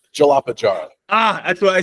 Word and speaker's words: Jalapa: it's jaapa jar it's jalapa jar Ah that's what I said my wife said no it's jalapa all right so say one more time jalapa jar so jalapa jar think of the jalapeno although we we we